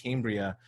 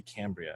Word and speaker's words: Cambria: i was pronouncing it cambria but it's actually cambria so if you remember cam that that might be helpful so we'll send this